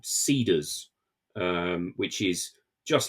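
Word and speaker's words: Seedrs: just like all Tech you you can't spell it the way that it sounds you have to remove vowels from it so it's s e d r s they they took out one of the three E's I don't know why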